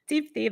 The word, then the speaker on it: Deepthi: DEEPTHI.